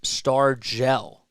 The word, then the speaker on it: Stargell: Pronounced Stargell.